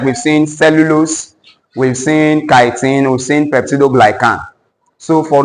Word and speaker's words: chitin: Pronounce this for me. Please, this is not cheating. This is chitin.